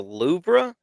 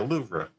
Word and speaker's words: Louvre: That's gonna The Louvre. Yeah, the Louvre. The Louvre. Okay. Obviously, I've been saying it wrong my whole life. There's an R in it.